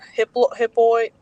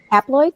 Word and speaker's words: haploid: altogether, and then for the, how you say it, hiploid, Haploid? Yep. haploid, it only has 23.